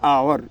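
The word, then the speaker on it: hour: ह नहीं हो रहा। यहां ह क्या हो रहा? अ उच्चारण हो रहा। इसीलिए आफ्टर एन आवर वह 1 घंटा के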